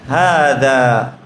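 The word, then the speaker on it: هذا: এখন নোটের মধ্যে কি বলছে দেখেন, হাদা ইজ প্রোনাউন্সড হাদা, কত ক্লাসে যেটা বলেছি, হাতেও মাদ হবে, দাতেও মাদ হবে, বাট ইট is written without the first Alif.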